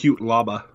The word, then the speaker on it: Cutelaba: on the show, and here I am not pronouncing it right again. Glover, I think that's Cutelaba.